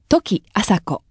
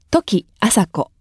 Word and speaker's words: 土岐麻子: 言い方土岐麻子土岐麻子ポイントは時のイントネーションですとにアクセントをつけて時と言いましょう時は間違いです時と正しく言えるように心がけましょう覚え方とし